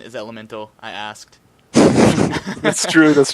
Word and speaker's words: Element4l: of Elemental or as some people know it element 4L but the proper pronunciation is Elemental I asked that's true that's true although I